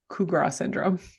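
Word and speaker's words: Capgras syndrome: It is pronounced Cougar syndrome. I was like, this cannot possibly be the way that this is said. Cougar syndrome, Oh, so kind of like coup de grace.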